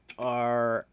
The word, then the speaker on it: Rian: That is spelled R-I-A-N? Or is there more silent letters in there? No, it's just Rian.